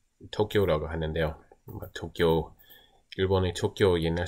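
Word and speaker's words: Tokio: 일단 Rust에서 사람들이 거의 다 쓰는 게 도쿄라고 하는데요. 도쿄, 일본의 도쿄 옛날 스펠링이 건데요.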